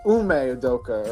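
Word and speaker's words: Ime Udoka: How do you pronounce his Udoka. name? Ume Udoka.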